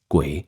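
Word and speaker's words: 鬼: Now, you see the word oni in Chinese characters pronounced guay in Chinese literally means something like the hidden one or spirit of the dead.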